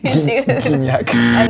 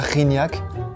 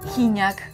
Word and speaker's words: Gignac: Guignac. ¿Dónde ves una U? Guignac. ¿Dónde está la U? ¿Es la G? Sería Gignac. Gignac.